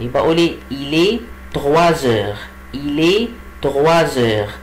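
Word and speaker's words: trois heures: طب ليه قلت تغواز؟ ما قلتش توا؟ برضه لان الاس لما يجي بعديها ان فويل سو برونونس زد، بنطقه ايه؟ زد. يبقى عشان كده بقول ايه؟ الي تغوازور. طيب العقرب لما يجي على 4 يبقى الساعه كام؟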